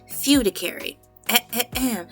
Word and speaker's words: fiduciary: Now, that word that I pronounced wrong is spelled f i d u c i a r y. Fudicary e.